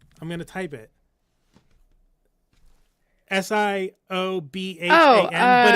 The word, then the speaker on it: Siobhan: S I O B H A N.